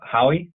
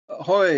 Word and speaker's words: Hoy: was from Michael uh Howie not sure if I pronounced your last name right I apologize you can unmute yourself Hoy is how I pronounce it so how he is sort of close I actually have two